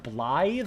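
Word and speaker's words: Blaidd: I think from Elden Ring I learned that that's pronounced Blythe. I always kept saying Blade.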